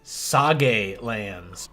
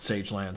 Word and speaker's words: Sage Lands: out here into the saga lands it's actually pronounced sage lands I don't want people